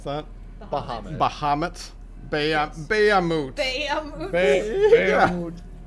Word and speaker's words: Bahamut: Is that how you pronounce that? Bahamut. Bahamut.